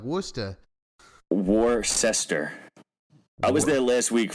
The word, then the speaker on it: Worcester: like Klaus I don't know they all say Wooster I don't even ask me how to say